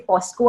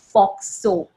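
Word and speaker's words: POCSO: that there's a o a lot of people pronounce it wrongly say fosco act no it's foxo PSO yes the other law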